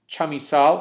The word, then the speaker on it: Chamisal: I guess my pronunciation comes from an upbringing where I would always say that the word, because this is an actual plant, would be chamisa. And extending that out would be chamisal. So I may use that pronunciation, but I believe it's most often pronounced as chamisal.